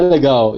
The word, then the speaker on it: legal: But I think it's pronounced like legal, right? Yeah, legal.